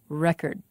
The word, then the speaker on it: record: ways the first word the noun record has the stress on the first syllable the second syllable is not stressed and its vowel is not pronounced clearly record the verb record has